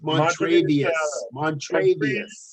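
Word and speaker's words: Montravius: It's Montrevious Adams.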